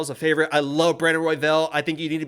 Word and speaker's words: Brandon Royval: You're saying it like there's an E in there, and it's embarrassing for. I'm saying Brandon Royval.